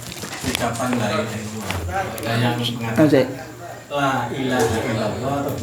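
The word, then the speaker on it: لا إله إلا الله: Bacanya dibaca lamnya agak panjang. Dibedakan dengan lam yang kedua, la ilaha illallah.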